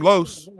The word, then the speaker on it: Los: So we can call him Los. Yeah, that's what the players call. That's my college roommate's name. They Carlos call him Perez. It rhymes with dose.